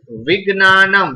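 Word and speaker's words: विज्ञानम्: It should be pronounced as Ma. Half Ma. Right? Like Vignanam.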